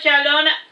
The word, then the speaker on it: Chalon: of those dead languages it is pronounced the same way as you do Shalom but with an end sound at the end of it now back to the matter hand J Shalon was finishing his Libations